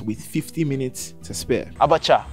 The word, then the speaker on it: abacha: Abacha. Pronunciation, did I get it right?